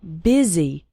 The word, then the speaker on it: busy: and fast spoken English the word busy is pronounced with an e sound busy and the word and